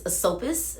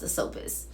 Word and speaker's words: Asopus: the river god Sisyphus, or I think it's Asopus. I think it's pronounced Asopus.